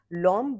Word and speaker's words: Lawm: Pronunciation है L, I mean spelling is LAWM. Lom basically means joy and in Mizo, and this brand is called Lom from the Hills.